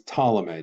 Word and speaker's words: Ptolemy: the first one is Ptolemy that's this gentleman right here that P is silent now technically I'm so I talked about from the time period Ptolemy is actually an ancient